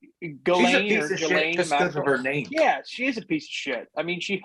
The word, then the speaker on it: Ghislaine: Yeah, it's like Ghislaine.